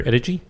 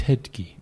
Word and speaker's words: Ettedgui: well I thought so Bennett but that's Peter Adichie Harry pronounce you I beat it key its head key okay I did there was well we have